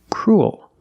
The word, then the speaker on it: cruel: vowel cruel oh your mouth opens and you make an extra little sound cruel like pool and cool example this boy is